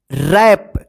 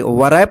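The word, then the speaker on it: wrap: मतलब होता है तलवार रैप डब्ल्यू आर ए पी रैप देखिए यहां पे यहां पे डब्लू जो है ना साइलेंट र व रैप मत पढ़िए रैप रैप का मतलब होता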